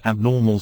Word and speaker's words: abnormal: mental illnesses norm py แต่ ถ้า เป็น สำเนียง คน อังกฤษ จะ ออก เสียง ว่า The study of mental illnesses is called ABnormal psychology แปล ว่า การ ศึกษา ความ